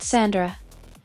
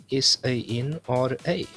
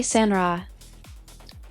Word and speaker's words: SANRA: Not Sandra. I know it is Sandra, so I'm actually pronouncing your name almost like a D. That's a start, but not quite. Sandra, SANRA. Try SANRA.